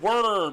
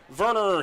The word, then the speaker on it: Werner: I see, Norm, you're going with the German pronunciation of Werner. Yeah. Nothing wrong with that. Werner, that's called anglicizing.